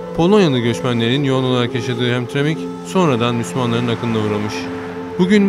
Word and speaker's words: Hamtramck: Ancak ilk bakışta buradaki adı okumakta zorlanabilirsiniz. Çünkü insan ilk gördüğünde nasıl okunacağını bilemiyor. Doğrusu hem Tremik diye okunuyor.